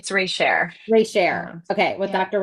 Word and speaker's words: Reichert: It's Reichert.